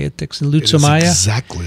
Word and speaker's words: Leishmania: Leishmania? It is exactly how you Leishmania. Say it. It's a perfect pronunciation, Vincent.